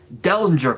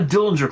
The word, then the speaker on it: Dellinger: Dellinger Core, not Dillinger Core, Dellinger, Dellinger. Dellinger.